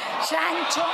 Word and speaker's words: Sancho: Disculpen por favor Disculpe he pronunciado mal su apellido Sancho silencio por favor silencio por favor señora Leal tiene la palabra Sancho Sancho no mi apellido Sancho en honor a mi padre a mi familia Yo